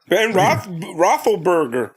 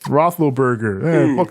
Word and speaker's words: Roethlisberger: ben roethlisberger can't even say it right yeah rofl burger roethlisberger that guy ben roethlisberger has